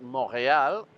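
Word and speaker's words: Montréal: And I said, if you go to Canada and you ask one of the locals how it's said, the T is very clearly silent.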